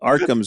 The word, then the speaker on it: Occam's: they keep talking about Occam's. They keep talking about Arkham's razor because they're all British in the show, and it sounds like they're saying Arkham's razor, and I'm like, I know what they're talking about, but OCCAMS.